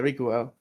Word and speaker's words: Rikuo: Isn't it Rikuo? Now that I think about it, Riku, something like that. Rikuo. Yeah, Rikuo.